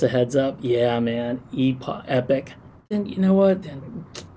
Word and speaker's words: epoch: Let's see, it's pronounced epic. Is it epic? Oh my gosh, man. So basically for 55 weeks I've been saying epoch, like Ewok.